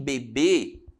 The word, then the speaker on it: bebê: Então, em bebê, a sílaba tônica está na última sílaba, que é qual? Aqui, ó. O B com circunflexo, né? Já a palavra bebe está na penúltima.